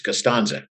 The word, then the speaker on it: Costanza: Well, I remember one thing they did ask was, they told me I was mispronouncing his name. It's Costanza.